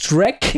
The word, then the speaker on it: Shrek: no puedo súper difícil pero es Shrek no es es Shrek no